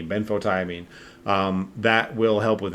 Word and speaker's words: benfotiamine: ben photo i mean so ben like the first name and then so b e n f o frank like f frank s and f jesus let me start that over b e n f as in frank o t i a m i n e ben photo i mean um that will help